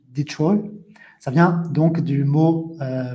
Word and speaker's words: Detroit: Vous avez la ville en anglais, donc en anglais américain, donc prononciation Detroit.